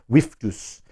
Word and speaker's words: Virtus: And there is Virtus God, an actual Latin pronunciation of Virtus. We can call it that in English language, but in Latin it was Virtus, with that pronunciation.